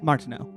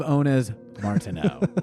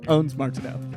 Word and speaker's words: Ondes Martenot: Martineau. Damn it. One day, I am hearing a little bit of Ondes Martenot. Ondes Martenot.